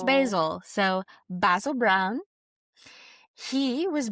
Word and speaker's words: Basil: And yes, I'm saying Basil as his name because he's British. Oh, and that's how they pronounce Basil.